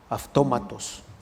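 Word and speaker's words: αὐτόματος: Autómatos es de donde viene automático, autómatos. Incluso si del griego la transliteras al castellano, casi se escribe automatos, pero se pronuncia autómatos, pero se escribe así.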